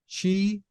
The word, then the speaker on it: Qi: devices that will use Chi Qi it's pronounced Chi 2.0 so give us